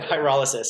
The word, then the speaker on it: pyrolysis: How do you say Pyrolysis, yeah.